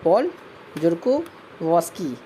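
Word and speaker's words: Paul Zurkowski: पॉल जोरको Vashi, pronunciation अपने हिसाब से कर लीजिएगा, ठीक है। वैसे इसको प्रोनाउंसिएशन किया जाएगा पॉल जोरकोवस्की, अगर मेरे हिसाब से किया जाएगा तो पॉल जोरकोवस्की है।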